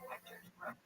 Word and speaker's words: Quiroga: Hector Quiroga.